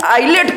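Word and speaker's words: ILATE: कि नहीं आया आ गया सर अब ये आईलेट क्या है सर जी इससे कैसे हमको पता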